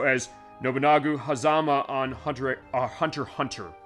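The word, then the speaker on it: Hunter × Hunter: nagu hazama on Hunter Hunter Hunter it's the Hunter x Hunter thing as far as how it's spelled it's pronounced Hunter Hunter one of my co-workers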